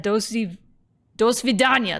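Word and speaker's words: до свидания: Dos vidania, that's how you say that.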